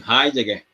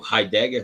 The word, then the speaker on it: Heidegger: arendt onde era professor Martin heidegger ou heidegger depende da região para a pronúncia onde foi Professor Edmundo